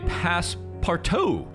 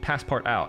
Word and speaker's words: passepartout: I was saying passepart out. And you're like, it's passepartout. Don't you know French?